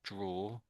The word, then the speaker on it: draw: So say make make a D sound. Duh and then make a R sound.